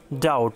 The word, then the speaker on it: doubt: Rules number 39, কনসোনান্টের এরপরে বিটি এর উচ্চারণ টয়ের ক্ষেত্রে বি অনুচ্চারিত হয়। উদাহরণ DOUBT, ডাউট মানে সন্দেহ।